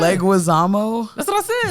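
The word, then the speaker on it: Leguizamo: The one with John Linquazamo.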